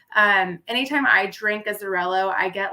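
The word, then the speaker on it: Xarel·lo: is a hundred percent zarello it's spelled with an X and it's silent just so you guys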